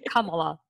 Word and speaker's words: Kamala: camila i am not a camel oh okay kamala and i love it but it's spelled the same way spelled the same way